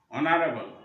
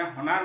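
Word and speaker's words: honour: থাকে শব্দটা, যেমন অনেস্ট, অনারেবল, অনারিয়াম, এই শব্দগুলোর মধ্যে আমাদের প্রথম শুরুতে কিন্তু কনসোনেন্ট আছে, এইচটা আছে, কিন্তু আমাদের এই এইচ এটা সাইলেন্ট হিসেবে কাজ করছে, এখানে ওই এইচ এর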